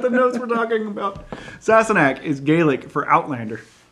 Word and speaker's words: Sassenach: So 5 minutes browsing YouTube to find the right pronunciation. Sassenach.